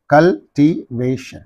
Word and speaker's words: cultivation: therefore conversation conversation right and here see cultivation cultivation this is the syllable preceding this suffix therefore on this imagination